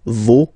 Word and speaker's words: vos: Okay, so remember, even if you've got this final S, you don't pronounce it, as it was the case already for this word, no, you don't pronounce the final S, vos, you don't pronounce it, leur.